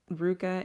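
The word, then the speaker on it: RVCA: And at first, it doesn't look like it's spelled Ruka. It's RV VCA, but that is how you say the brand.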